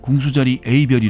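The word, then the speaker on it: 궁수자리 A*: abr 블랙홀은 공수 자리에 이 다음에 별 표시를 하고 읽을 때는 궁수자리 a 별이 라고 읽습니다 궁수 저희의 이별의 이미지는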